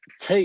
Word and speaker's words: Che: So then Che is pronounced with the same long vowel sound as make, means word, and refer